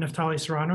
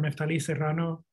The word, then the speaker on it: Neftali Serrano: I'm Neftali Serrano, or Neftali Serrano, whichever way you are able to say it. If you're able to roll your R's, you can say it the Hispanic way.